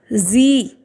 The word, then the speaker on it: Sie: So when a vowel follows S, then S will be pronounced as Z of English.